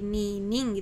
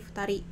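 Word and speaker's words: 二人: Nah ini untuk bilangan kedua atau angka 2 ini ni ya, tapi sama ya, ini juga tidak menjadi ni ning gitu ya, tapi menjadi futari.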